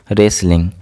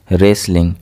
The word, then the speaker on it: wrestling: Here W will be silent. Wrestling. Wrestling. Here W is silent.